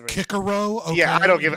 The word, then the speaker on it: Cicero: When I asked you in a second, it's pronounced Kikaro.